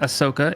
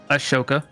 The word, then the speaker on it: Ahsoka: It's not Ahsoka. It's Ashoka.